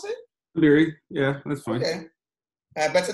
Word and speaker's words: Dabiri: Dabiri, is that how you pronounce it? Dabiri, yeah, that's fine.